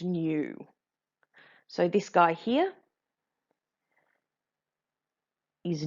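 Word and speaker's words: ν: frequency which is given this kind of weird curly V symbol that's actually pronounced new so this guy here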